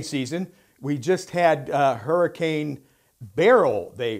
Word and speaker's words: Beryl: We just had Hurricane Beryl, they pronounced it, although it looked like Burl. Did you see that, Greg? But they pronounced it Beryl.